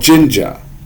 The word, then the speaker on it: Jinja: template it is called jinja it is a python template um creator for lack of a better term and it's and it's pronounced i believe it's pronounced ginger i may be saying